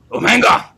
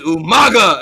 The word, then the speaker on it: Umaga: calling it um um versus Umanga I'm just like can I as a kid I go why is he saying his name wrong his name is Umaga and like know he